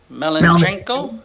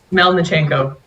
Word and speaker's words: Melnichenko: Good morning, Ms. Melachenko. Is that a correct pronunciation? Melnichenko.